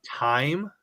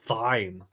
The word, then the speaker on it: thyme: You say Did you say time? Yes. T H Y M E. Oh, I thought that was called thine. Time. The H is silent.